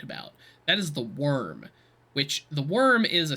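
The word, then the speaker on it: Wyrm: the worm the worm it's spelled the y w y RM uh the worm so the bird is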